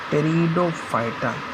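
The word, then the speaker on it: Pteridophyta: बोलेंगे ऐसे को बोलेंगे टेरिडोफाइटा प साइलेंट है य प डो फाइटा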